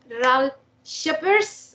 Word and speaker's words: Ralf Scheepers: for us to having you in laara radio R sheers are they right pronounced R sheers yes thank you very much